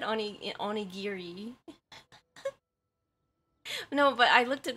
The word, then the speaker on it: onigiri: English dictionary and and they pronounce it onigiri and it's like actually because of the fact that the Japanese um they're um syllables um they separate the ghee in the re you know and and